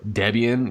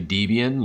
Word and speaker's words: Debian: ridicule you because you don't understand how to pronunciate certain terms like gnome or instead of saying gnome or debian you say deviant you say open susie instead of open souza